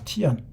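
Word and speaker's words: 天: 어 이게 티안이에요. 티안. 중국 발음으로 티안.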